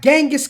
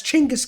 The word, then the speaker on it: Genghis: number 13 we have genghis khan or as he should be known as chingus khan i might have no idea there's like five different ways to pronounce this guy's name now apparently it's chingus now used to be genghis um it used to be something else he used to be like genghis without the h or something i